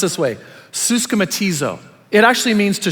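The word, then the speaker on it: συσχηματίζω: what the Greek word is listen it's actually pronounced this way suzka matiz oh it actually means to shape one's behavior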